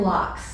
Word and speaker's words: Locks: So it's Lynn Locks. Sounds like Fox, she said. So Locks is how you say her Okay.